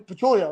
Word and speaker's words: Patullo: Because like you said, as they were panning the cameras, they saw Jalen talking to Kevin Patullo, right?